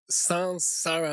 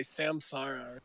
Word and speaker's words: sansara: First of all, the correct pronunciation Primero que nada, la pronunciación correcta is Sansara, like S-A-N, not S-A-M. es Sansara como S-A-N y no S-A-M. You hear a lot of people say Samsara, Escuchas a muchas personas